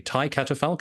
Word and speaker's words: Thy Catafalque: pronounce the band incorrectly Tai catapal is that how I should say yeah that's AB but that's in English this is English so